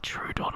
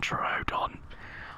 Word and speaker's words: Troodon: ask me to speak, I'm going to say Trudon and not Troodon. I can't wait till the paleo nerds see that. He said it wrong!